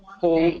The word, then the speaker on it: whole: For a whole day. Whole day. Yeah. Yeah. So the W is silent.